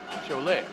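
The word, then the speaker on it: Šiauliai: Leed see chle chle spelled s i a u l a i a how that pronounced chol not going to argue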